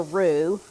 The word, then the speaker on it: roux: This is going to make a roux. I've said this before. It's spelled R-O-U-X, and what you normally see talking